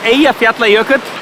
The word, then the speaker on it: Eyjafjallajökull: It has a name that's really easy to pronounce for Icelanders, nobody else. So it's called Eyjafjallajökull.